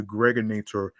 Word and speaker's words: Gregonator: This is your man and homie, aka the Gregonator, rhymes with now or later.